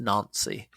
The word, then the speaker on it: Nancy: no they're from nony spelled Nancy but pronounced nany and um yeah I'm